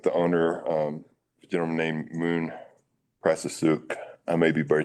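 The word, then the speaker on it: Moune: you repeat the name his name is Moon and it's it's spelled m o u n e okay I will keep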